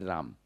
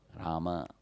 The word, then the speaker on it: Rama: People say, actually in Hindi you call it Ram. In Sanskrit it is Rama, you should say.